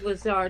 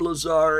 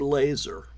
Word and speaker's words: Lazar: way of debugging Bob Lazar is they've decided to start calling a bob laser it's one of the things that they do is they make they they belittle people by uh mispronouncing their names or um by dropping